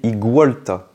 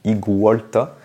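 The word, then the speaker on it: Iguolta: ou igolta et bien celui-ci doit être prononcé igolta parce que c'est un iguan tout simplement donc igolta et olta c'est par rapport à volta c'est c'est le nom de l'inventeur de la pile électrique voilà donc igolta Pokémon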